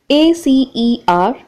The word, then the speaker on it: acerbic: A-C-E-R-B-I-C, pronounced as acerbic.